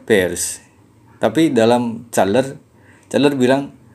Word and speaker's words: Peirce: Biasanya diucapkannya Peirce, tapi dalam Chandler bilang diucapkannya Peirce.